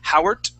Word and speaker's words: Howard: t okay say saying Howard and Kilt okay uh we want to pronounce a d sound that D is like this Howard Howard try that please